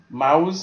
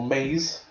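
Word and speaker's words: Maus: Mouse or maze, depending on the pronunciation.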